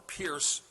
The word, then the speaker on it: Peirce: They were led by a man named Charles Peirce, who you probably haven't heard of, or Pierce, some pronounced it.